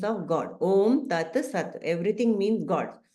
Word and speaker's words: Om: It's made of 3 syllables. A, U, Ma.